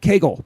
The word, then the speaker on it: Kegel: His name is, he goes on to write, Matthew Kegel, pronounced like the exercise.